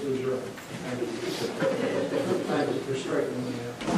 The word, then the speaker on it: Lejeune: I was Southern country boy, Camp Lejeune pronouncing, who's going to speak to correct me. But I know, George, I'm sorry, it is Lejeune.